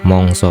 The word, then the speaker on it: mangsa: Mangsa itu musim ya teman-teman ya. Mongso bacanya.